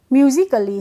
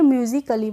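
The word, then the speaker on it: musically: A double L वाई तो ए है यहां पे तो हम इसको कैसे पढ़ेंगे म्यूजिकली कैसे पढ़ेंगे म्यूजिकली पढ़ेंगे तो ऐसे ही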